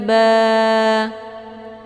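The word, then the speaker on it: ب: Jadi cara bacanya ba, bibir atas yang basah melekat dengan bibir bawah juga yang basah atau yang sebelah dalam.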